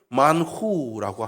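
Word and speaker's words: מן הוא: 그것을 히브리어 그대로 발음하면 만후라고 합니다.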